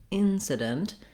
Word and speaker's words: incident: we stress on the first syllable in that means i'm going to hold that longer on the vowel i and it's just like the word in then when i get to the second two syllables sedent incident these are going to be short and unstressed so they're going to change the vowel sounds have reduced vowels in them in an